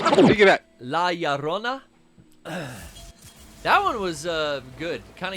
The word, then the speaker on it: La Llorona: So I gotta pronounce that correctly. Take it back. La Llorona.